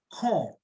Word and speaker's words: corps: two scissors they're also two binoculars they're two core this is not corpse this pronounced car so it's it's usually uh it